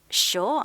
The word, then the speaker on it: sure: 자, 영국 사람이기 때문에 뒤에 R 사운드가 빠지니까 sure 이렇게 발음되면 되죠.